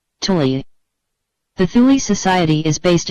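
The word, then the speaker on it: Thule: are me MERS of the thuli society pronounced Tuli the thuli society is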